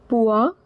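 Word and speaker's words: poids: Me it means same pua. Remember ds is silent. Oi is pronounced as ua.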